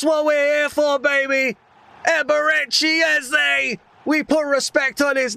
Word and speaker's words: Eberechi Eze: Eberechi Eze. We put respect on his name and we pronounce it correctly when he scores.